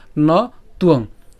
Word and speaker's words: ত্বং: এরপর নতুয়ং, এখানে ন তুয়ং, আমরা ২৬ নম্বর শ্লোকে এরকম তুয়ং শব্দটি পেয়েছিলাম। তো সেখানেও বলেছিলাম যে যদি অন্তস্থ বযুক্ত অনুসার যদি আমরা উচ্চারণ করতে যাই একসাথে, তখন তার উচ্চারণ কীভাবে করব?